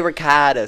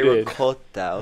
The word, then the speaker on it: ricotta: He's like, don't say ricotta, say ricotta. Who did? Caden told me. Okay. I was like, I could see Nick telling that. Oh no. Say ricotta.